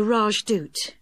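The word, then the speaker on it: Rajdoot: in weatherfield is supposed to be excellent the rajdut oh how do you spell that r a j d o o t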